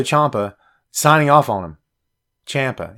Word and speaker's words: Ciampa: Ciampa. It's Ciampa. It's Ciampa. I am bound and determined to pronounce this guy's name correctly. It's Tommaso Ciampa. That's it. If you say any other way, it's wrong.